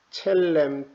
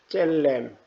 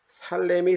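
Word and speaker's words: צלם: 형상은 히브리어로 첼렘 또는 젤렘 이렇게 두 가지로 발음할 수 있습니다.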